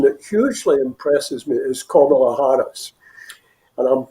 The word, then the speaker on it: Kamala: One person that hugely impresses me is Kamala Harris. And I'm pronouncing her name right. She's like a pains to remind people that it's Kamala, and she should know how to pronounce her own name.